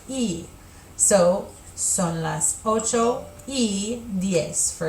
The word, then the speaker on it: y: In English, it's the letter Y, but the word and is pronounced E.